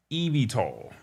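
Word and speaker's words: eVTOL: And I also asked what was EV VS and that stands for electrical or electric vertical takeoff and landing pronounced EV tall. So EV tall it's an aircraft that operates like a hybrid between a helicopter and an electric car.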